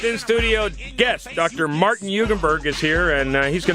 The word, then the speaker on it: Jugenburg: are perfect thank you the J is not only silent but it's a different letter uh yes yes all right so uh Dr hugenberg uh first of all